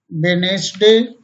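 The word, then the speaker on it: Wednesday: इन सभी शब्दों में जी से पहले डी आई है जो हमेशा साइलेंट रहती है। कुछ और शब्द देखें, जैसे सैंडविच, वेडनेसडे, बैज मीन्स पदक, हैंकरचीफ मीन्स रुमाल, हैंडसम मीन्स सुंदर।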